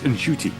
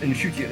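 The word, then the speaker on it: Ncuti: It's Nchuti, apparently. I saw that thing where he said his mother was telling me, it's pronounced Nchuti.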